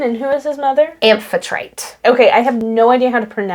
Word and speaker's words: Amphitrite: Amphitrite. Okay, I have no idea how to pronounce that.